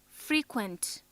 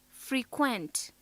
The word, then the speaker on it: frequent: If stress is on the second syllable, then it is a verb.